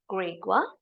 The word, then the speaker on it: Gregor: a question to Gregor the pronunciation of the name Gregor in German is grea so don't worry about